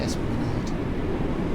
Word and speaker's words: Esplanade: And that's how you say it, Esplanade.